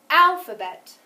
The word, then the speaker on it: alphabet: You should be holding up 1 finger because the first syllable was louder, longer, and higher than the other 2. Listen one more time. Alphabet.